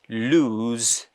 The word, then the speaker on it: lose: what are these words l-o-s-e lose and L double o s e loose loose l-o-s-e that is lose L double o s e that is loose loose loose so we can